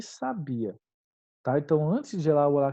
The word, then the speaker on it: sabia: palavrinha dessa aqui então sábia é um adjetivo e a gente acentua por quê porque é um uma paroxítona terminada em ditongo sabia é um verbo né e a gente não aceitou a sabia porque é um hiato só q ue é sempre a primeira vogal tônica e não segunda tudo bem e a